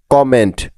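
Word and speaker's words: comment: আরেকটা বিষয় লক্ষ্য করো, এখানে কিন্তু ডাবল এম বা দুটি এম পাশাপাশি আছে, তবু কিন্তু একটি ম উচ্চারণ হচ্ছে, যেমন কমেন্ট। কমেন্ট। কারণ হলো ইংরেজি শব্দে একই রকমের দুটি কনসোনেন্ট পাশাপাশি থাকলেও তারা একটি সাউন্ড দিয়ে থাকে, মনে থাকবে তো।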